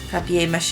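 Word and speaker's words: papier-mâché: of glue to water i almost said papier mache which is i mean that's the technically the papier mache is the correct way to say but it makes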